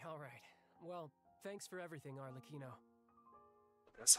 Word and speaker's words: Arlecchino: Well, thanks for everything, Arlecchino. That's how you pronounce it, Alec.